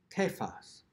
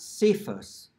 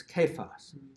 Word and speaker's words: Cephas: C in English, because it is not pronounced with a soft C anywhere in the tradition of the language. So that word is not Cephas, it's Kephas.